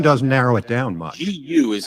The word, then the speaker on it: Gu: GU is how it's spelled. Eugene GU, like goo.